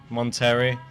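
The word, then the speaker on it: Monterrey: where was that one that was in monteri yeah Mexico wasn't yeah the only city to rhyme with John Terry you go straight into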